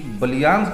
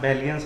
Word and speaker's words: Ballian's: Hotel का नाम भी बैलियंस ही है, बट प्रोनाउंसिएशन का लोगों को बस थोड़ा सा वो बलियांस बलिया है, तो उसके हिसाब से सब बलियांस कहते हैं। नाम बैलियंस है होटल का।